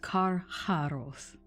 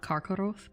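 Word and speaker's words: Carcharoth: tormented wolf now karjarov it is kar harouth not karkoroth but i may mispronounce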